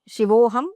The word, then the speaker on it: Shivoham: And then finally, you say Shivoham, Shivaham. I am Shiva. Shiva Aham is Shivoham. And then Shiva Aham is Shivaham. So when it is a long sound at the end, it refers to Shakti.